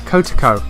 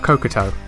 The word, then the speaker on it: Kotoko: Kotoko, not Kokoto.